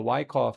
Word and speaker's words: Wyckoff: And according to the Wyckoff schematic, that's how it's said, it says we